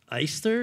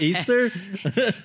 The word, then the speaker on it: East: you, who is Ethel Eister? Is that how you say it? Easter? You're so not New Orleanian. Her name is Ethel East. Miss East was my high